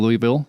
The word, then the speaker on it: Louisville: three-year cancer research study with the University of Louisville here on the Space Coast so we are